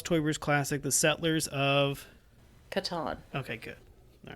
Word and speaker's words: Catan: How do you pronounce Klaus Teuber's classic, The Settlers of Catan?